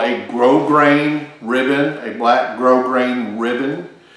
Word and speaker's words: grosgrain: uh what's called a grosgrain ribbon a black grosgrain ribbon uh it's spelled g-r-o-s-g-r-e-i-n one word uh but it's actually pronounced grograin not gross grain and all grosgrain means